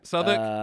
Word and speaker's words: Southwark: Yeah, Southwark. Southwark Council. Uh written Southwark, but you don't want to pronounce it like that.